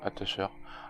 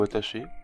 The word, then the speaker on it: Attacher: à vous jouer à attacheur attacheur ou attaché comme on prononce comme on veut donc c'est vraiment le